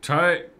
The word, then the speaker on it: Tyrconnell: Tyrconnell. Tyrconnell. Tyrconnell. So the pronunciation is on the second syllable, mm-hmm.